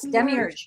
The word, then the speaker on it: demiurge: The demiurge, am I pronouncing that right? Yes, demiurge.